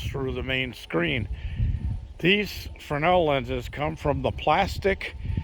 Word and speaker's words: Fresnel: Now, for those of you who don't know what a Fresnel lens is, that's spelled F-R-E-S-N-E-L, like Fresnel, but it's Fresnel. It's a French name.